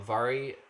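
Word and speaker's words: Mhairi: a i r i is pronounced vary with a v sound because it's a gaelic um she has been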